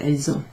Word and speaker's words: elles ont: If they're not hesitating in their speaking, you'll hear it with this sort of Z sound. Elles ont.